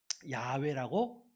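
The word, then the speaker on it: 야웨: 읽었을까 조상들은 어떻게 읽었을까요 야외라고 읽는 것이 맞겠다 해가지고 야외라고 우리가 지금 읽고 있는 거예요 그러면 우리가 읽는 새번역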